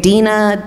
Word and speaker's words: Dinah: Dinah, a lot of people, they say Dinah, I'm like, it rhymes with vagina.